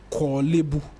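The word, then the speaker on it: Korle Bu: And so, when I get to know what the right pronunciation is, Kolebu, Achimota, Bubiashi.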